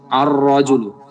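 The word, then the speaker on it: الرجل: সরাসরি তকে ধরেছে বলুন আরজুলু আলিফটা র কে ধরেছে লামটা বাদ পড়ে গেছে জাহারাতুন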